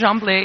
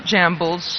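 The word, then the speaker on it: Gemblay: Yes, it is Jamblay. It's not Jambles.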